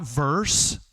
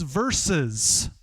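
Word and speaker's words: versus: It's not verse, it's verses. Like, you got if you want to do this business, you got to say the words right. That's not how those words are pronounced.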